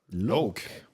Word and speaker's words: Loake: Loake. Loake. And you shouldn't pronounce it Loake. Loake. Loake. It's Loake because it's a surname.